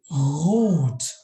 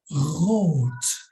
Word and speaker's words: rot: If it's in the beginning of the syllable, we speak it as a consonant. And then it's called, this one here in English means red, yeah, merach. It means rot, rot. And this R is exactly the same as in the Indonesian word akhir.